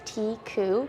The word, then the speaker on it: Tikkhu: is called Tik jewelry so pronounced tiu most people struggle with it and I kind of